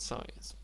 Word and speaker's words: science: And there's the word science. Uh, of course, letter C is silent, but in Polish language, you would pronounce all letters that appear in this word.